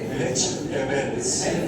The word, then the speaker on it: vegetables: ভেজ, টি এর sound D এর মতো দেবে, আর আরেকটু অন্য শব্দ। ভেজিটেবলস, ভেজিটেবলস, ভেজিটেবলস।